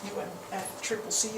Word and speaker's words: UNFCCC: context of the unfccc UNF Triple C as the Brits say United Nations framework conventional